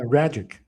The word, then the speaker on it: Ragic: But tell us a little bit more about is it raik Rajic? How do I pronounce it properly? Uh, Ragic. So, it's basically a rapid plus magic.